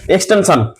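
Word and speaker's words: extension: Object, plus হবে এক্সটেনশন, এক্সটেনশন আসলে সান না, উচ্চারণ হয় সন, এক্সটেনশন।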